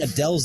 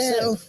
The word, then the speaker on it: Adele: But we've all been saying Adele, and she said my name perfectly, which means that we've been saying it wrong. Well, but her accent It's is what it is. I don't know Adele, what you want to Adele, say. Adele. Adele. There's no H.